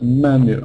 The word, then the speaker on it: menu: have the menu please not you me sound because the first syllable is stressed menu okay using language today